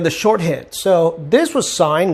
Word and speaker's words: sine: it and learn the shorthand so this was signed not sin sign does cosign not cos and this is